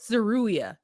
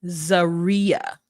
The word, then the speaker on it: Zeruiah: Zeruia. You're right. Zaria. Oh. Zeruia. It's because it's spelled Zeruiah. And to me, Ruiah is Ruia. But it's Zaria.